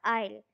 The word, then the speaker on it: aisle: Stretch her legs along the aisle. Don't say easily, okay? It's aisle. S is silent.